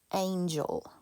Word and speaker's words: angel: the first one is angel angel the second one is angle okay this is a soft g it has the j sound this is a hard g it has the gu sound be careful with that